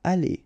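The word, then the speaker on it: allées: aller, aller, aller, and aller. So technically you don't pronounce the final e, you don't pronounce the final s, and you don't pronounce the final es.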